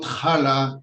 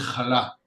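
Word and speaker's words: challah: for him it's intuitive kala baking right by the way if you want to say it properly it's not kala it is kala right this is the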